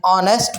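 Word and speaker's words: honest: मिसाल के तौर पर an umbrella, umbrella, N orange, N MBA student, an ऑनेस्ट person. अब देखिए यहाँ पे ऑनेस्ट के अंदर जो एच है वो साइलेंट है।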